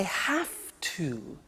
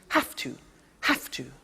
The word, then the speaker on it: have to: Now, did you hear my pronunciation? I have to. Notice I don't say V, I say F. Have. It becomes have to. Have to becomes in pronunciation have to.